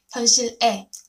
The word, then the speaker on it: 현실의: But nowadays, people more pronounce it as 에, 에. 현실 에.